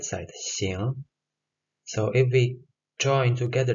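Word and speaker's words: 行: And this character actually has two readings, like one is Xing and another one is Hang. But in this word and in this context, this character is pronounced Xing, and it means literally to go or to walk.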